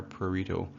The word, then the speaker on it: prurito: But with prurito, you try to pronounce the PR, prurito.